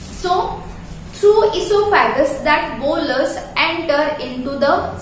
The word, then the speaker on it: oesophagus: देखो इसका spelling O से स्टार्टेड है बट इसका प्रोनाउंसिएशन इसोफेगस है। ये बात ध्यान में रखना, because I have heard many times that students are calling it ओइसोफेगस. Oh, it is not oesophagus, it is just esophagus.